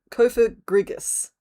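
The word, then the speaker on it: Cofagrigus: I almost hit a syllable of that way too hard. Kofa Griggus. See, there's a sneaky R in there where I didn't expect one either.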